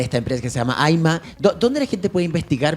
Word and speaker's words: Ayma: Ya, el Aima, para los que no saben, se escribe A-Y-M-A, Aima.